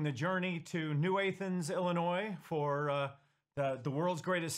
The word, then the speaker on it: Illinois: New Athens Illinois we we have agreed that Illinois probably should have the S pronounced again so we do call it Illinois um uh really tiny